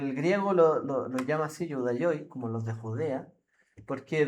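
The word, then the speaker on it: Ἰουδαῖοι: Pero lo que usa ahí, el término es Judaioi, si no me equivoco, se pronuncia así.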